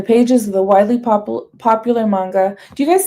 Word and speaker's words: manga: Manga. Hard G.